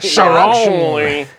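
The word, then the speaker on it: Charon: Yeah, you'd pronounce Karen. Yeah. Yeah. I mean, I'm sure there's fucking nerds out there that are gonna be like, Sharon. Yeah. from Greek pronunciation or whatever, and I'm Yeah. like, fucking shut up. Which you know what is- I mean? It's Karen. But it's isn't that essentially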